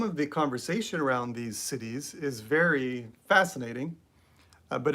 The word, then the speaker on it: siddhi: they talk about the siddhis. And the siddhis, which is, I think it's spelled S-I-D-I, that spelling could be slightly wrong, but the word is siddhi.